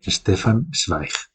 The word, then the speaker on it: Stefan Zweig: Y pasamos al tercero y último, que es El mundo de ayer, de Stefan Zweig. Mira, lo pronuncias bien.